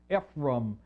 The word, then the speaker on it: Ephraim: it means fulfill or fullness this youngest one Ephraim Ephraim as it's pronounced in the Hebrew is going to be